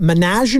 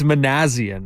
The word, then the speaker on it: Manasian: is the perception changing is it manian or manasian man Rizzo come on come on Steve it's manasian manaz Manan all right